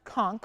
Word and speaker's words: conch: And it is pronounced conch.